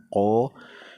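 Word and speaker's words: ق: Ko ini membacanya di tenggorokan, ko.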